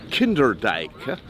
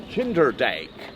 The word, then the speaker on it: Kinderdijk: Well, there is a J, but in the Dutch alphabet, an I and a J next to each other is pronounced A.